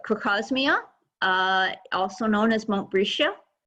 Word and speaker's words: Crocosmia: Crocosmia, often mispronounced as crocosmia, but crocosmia, also known as Montbretia.